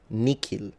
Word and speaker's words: nihil: The other option is to pronounce it like a K. So Miki Nikil, they are both correct.